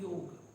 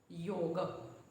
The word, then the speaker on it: Yog: why 'aa' is neccessary so, in daily dialect, people pronounce it as with 'a' in the end and start saying 'Yoga' there is nothing wrong with it some people say if you are not able to pronounce the name correctly then how will you perform it correctly although it's true so, as much as possible pronounce it as 'Yog" If sometimes you mispronounce